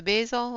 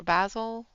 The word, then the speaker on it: basil: to go in with the basil or basil all depends upon where you're from and where where you are on how you pronounce it I said Basel to